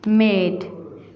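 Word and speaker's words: made: So next is मेड. मेड में भी ई silent है और ए लंबी आवाज़ देता है जैसा कि एड. एड.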